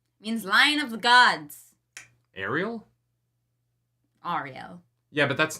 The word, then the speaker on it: Ariel: my name interesting yeah so I don't know if the aerial pronunciation is actually like a kind of North American thing but uh yeah that's